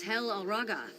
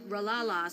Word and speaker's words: Hel Alraga: When she was young, some thick skull heard her name and had trouble pronouncing it. Her real name is Hel Alraga, just like me. But Ralala stuck, and she's been using it for 30 years.